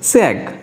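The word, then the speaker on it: 책: উচ্চারণ হবে চ্যাক। Korean ভাষায় এটা উচ্চারণ হবে চ্যাক।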